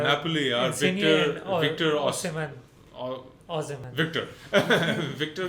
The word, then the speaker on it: Osimhen: And Napoli are Insigne and Victor Osimhen. Osimhen. Victor. Victor जो है ना, he's- Osimhen.